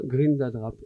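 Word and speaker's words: Grindadráp: Alors, cette ONG est là avec ses militants pour essayer d'empêcher le bon déroulement d'un Grindadrap. Comment on prononce ça Comme ça, Grindadrap.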